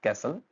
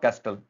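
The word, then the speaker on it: castle: Next है आपके पास कैसल, इट्स नॉट कैस्टल, इट्स कैसल, यहाँ पे टी साइलेंट रहता है, कैसल।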